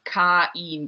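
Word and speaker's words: Kain: they are born so i should have pronounced it as ca in because it rhymes with zin there was a hilltop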